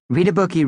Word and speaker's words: Readabookie: Hey, read a bookie reunion weekend is coming up, Katie said, trying to think of something that would cheer us all up. Camp Readabookie, pronounced Read a Bookie by the way, was the schoollike summer